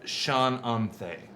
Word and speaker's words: Shananthe: And I would say that's Shananthe. Oh, that's one name. Yeah. C-H-A-N or S-H-A-n Shannon. A-N-T-H-E. This is With an really accent important. over the E. Gotcha. Sure. Shananthe.